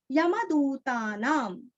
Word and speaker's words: यमदूतानाम: यमदूतानाम, दू दीर्घ, यमदूतानाम, अनुस्वार का उच्चारण आधा म।